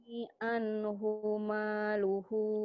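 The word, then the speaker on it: عنه ماله: Anhumaluhu. Hunya pendek. Hunya pendek. Mayo ini anhumalu. Ayo Bu pendek hunya.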